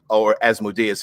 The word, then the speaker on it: Asmodeus: made a deal with Asmodeus or Asmodeus, if you want to pronounce it that way, or Zariel after her corruption.